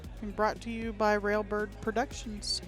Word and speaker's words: Railbird Productions: I give her a hard time every time she mispronounces our name. Yeah, it's that d that it's like it it's wrong, you know? It it almost like you're doing a double possessive or something.